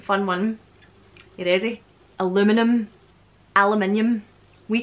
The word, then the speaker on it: aluminium: Aluminium. Aluminium. We call it aluminium. Aluminium is just, you're not pronouncing the letters, that, you know, the way that...